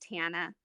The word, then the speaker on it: Tana: it's just Tana. It's Oh, super easy. Tana. Okay, I'm Yeah, sorry. and no harm, no foul. Like a lot of people mispronounce my name because it's a unique name. But yeah, it's just like Montana without the Mon.